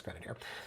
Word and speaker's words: Grenadier: Yeah, it's Grenadier. There's a lot of names mispronounced out in Roncesvalles.